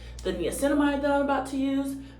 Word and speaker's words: niacinamide: Next, we're going in with niacinamide. I used to pronounce this neomycin, which I think is something else, but I literally thought that this was neomycin.